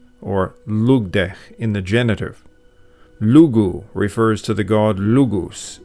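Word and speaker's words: Lugh: But in modern Irish, Lug is pronounced simply Lu.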